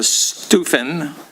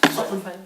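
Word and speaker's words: Sutphen: Approve purchase of public safety patrol vehicles to fiscal year 2027 and approve purchase of the the Stufen or is that is that how it's pronounced? Stuen.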